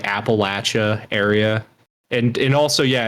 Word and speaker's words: Appalachia: co m uh yeah like the whole like Appalachia area and and also yeah it is pronounced Appalachia it's not pronounced Appalachia I had